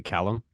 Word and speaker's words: Callum: audience are at, Callum, and I'm pronouncing it correctly, Callum.